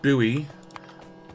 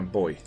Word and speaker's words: buoy: american rather than no i pronounced it buoy like an american whereas i should pronounce it like an australian i call it a boy uh okay that's enough